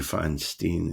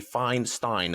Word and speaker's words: Feinstein: a German name and the pronunciation should actually be Feinstein as in Einstein I'm like don't tell